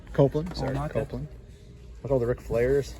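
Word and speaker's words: Copeland: stuff we got edge here here we go Kaplan copelan sorry copelan look all the Ric flares so many Ray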